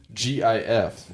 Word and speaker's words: GIF: GIF is pronounced GIF, like the Or- peanut butter.